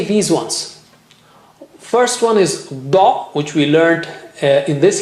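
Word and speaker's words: ض: So this is da, and the other one is dha. Both are very distinct. Don't mix them. Da with the right side of your tongue touching the right side of the gums.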